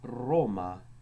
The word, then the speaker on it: Roma: R was always trilled, hence it was called the littera canina, because it sounds as if you're growling, such as in the word Roma, curate.